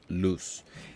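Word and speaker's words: Luis: and it's spelled this way, like Lewis, but it's actually pronounced loose.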